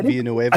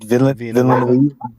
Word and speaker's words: Villeneuve: Dennis but yeah, Villanueva. I mean, you think Dennis, yeah, is that how you say it? Villeneuve.